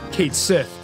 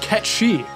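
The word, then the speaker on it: Cait Sith: pronounced how it's spelled kate sith his name is actually scottish gaelic and is pronounced ketchy i didn't even know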